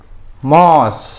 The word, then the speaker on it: mouse: Kalau nomor 4 ini disebut dengan MOS. Nulisnya M-O-U-S-E. M-O-U-S-E. Buya, itu kok nulisnya mouse tapi dibacanya mouse? Ya, sama kayak speaker. Ini bahasa Inggris, jadi ditulisnya mouse, dibacanya mouse.